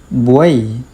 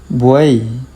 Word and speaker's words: buey: For example, the word buey buey It is actually just one syllable because the letter y is treated like the i.